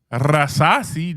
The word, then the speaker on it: Rasasi: other than Rasasi. Do I got to roll my R's when I Yeah, say you got to roll your R's.